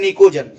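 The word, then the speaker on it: pnictogen: देखो पी जो है यहाँ पर साइलेंट है, यहाँ पढ़ोगे तो निक्टोजन पढ़ाता है, तो इसको आपको पढ़ना है निकोजन।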